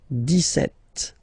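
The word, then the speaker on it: dix-sept: it's clear but then for the pronunciation deset okay so you don't insist on the des set det okay then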